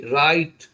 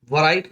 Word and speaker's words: write: और W silent वाले word देखेंगे, WRITE राइट, वराइट नाम बोल के बोलेंगे राइट, राइट मैंने लिखना, ANSWER आंसर मैंने उत्तर, और WRONG रॉन्ग, रॉन्ग मैंने होगा गलत।